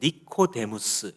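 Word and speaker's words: Νικόδημος: 니고데모라는 사람, 이 당시에 이 이름의 원어 발음대로 하자면 니코데무스 이렇게 말할 수 있습니다.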